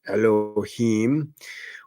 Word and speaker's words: Elohim: I did find out that Elohim, pronounced Elohim, was a Hebrew word for God in the Old Testament and used in the Christian covenant churches.